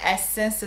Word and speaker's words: Essens: chiama s su però non è essence quella famosa che tutti conosciamo scritto con lacie finale ma essence scritto con la s finale purtroppo si pronuncia allo stesso modo quindi è facile confondersi però passiamo ai prodotti